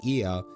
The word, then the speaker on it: Ea: When the vibration of vocal cords was still required to convey our thoughts and intention, Ia, I believe, was the pronunciation used to referring to our people.